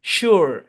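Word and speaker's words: sure: বলি সিওর সিওর হ্যাঁ original উচ্চারণ হচ্ছে সিওর সিওর সু এখানে ইউ এর সাউন্ড নাই এরকম না সু এখানে শিউ না সু এরকম সিওর সিওর হ্যাঁ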